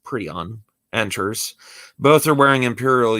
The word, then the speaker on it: Prion: Captain Prion, pronounced Prion, enters.